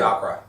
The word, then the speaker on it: Suidakra: Suidakra. Suidakra. Suidakra. Absolutely. Right. Which is a cool name, actually, now that you pronounce it like that.